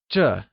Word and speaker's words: 这: This translates to 这 and is pronounced using the falling tone.